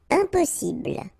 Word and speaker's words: impossible: Impossible. Don't insist on the final E.